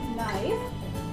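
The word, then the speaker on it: knife: जैसे अभी मैंने आपको स्टार्टिंग में ही बताया था नाइफ। तो नाइफ का क्या होगा, यहाँ पे अगर जो के है वो एन से पहले आ रहा है तो के हमारा साइलेंट हो जाएगा।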